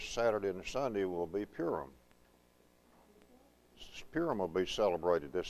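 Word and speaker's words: Purim: weekend that purum and some some people some people pronounce that purm I call it purum because P I am is just purum to me and it doesn't it doesn't break it down any differently than that so come in brother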